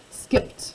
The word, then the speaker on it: skipped: that in an oddball, because skipped, it's only one syllable, as we squish all of this ED syllable together with just a T sound.